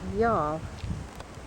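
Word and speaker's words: Youghal: we're on our way into the town of Y'all. That's uh spelled Y O U G H A L, but it's pronounced all y'all.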